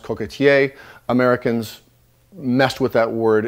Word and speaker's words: coquetier: In French, that's pronounced coquetier.